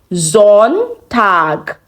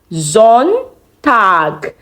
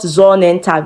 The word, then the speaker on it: Sonntag: Sonntag. Sonntag. Son, the Sonne, and Tag. However, there's no E, not Sonnentag now, but Sonntag. Sonntag.